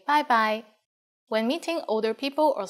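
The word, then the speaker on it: 拜拜: When it's time to leave, we say bye-bye for informal situations. And you are right, it's just like the English bye-bye with a Cantonese pronunciation.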